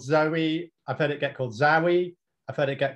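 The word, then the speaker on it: Zowe: so they had to stick a silent W in there to call it Zoe with a W to get around trademarking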